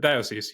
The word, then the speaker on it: diocese: Diocese, you got it.